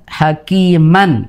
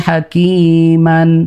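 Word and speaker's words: حكيما: Misal dalam lafadz aliman hakiman. Kita bacanya kan aliman hakima begitu. Bukan aliman hakiman. Bukan lagi. An-nya hilang. Dan dipanjangkan dengan 2 harokat.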